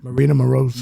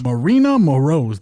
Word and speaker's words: Maryna Moroz: Maryna Moroz. Maryna Moroz, the Iron Lady.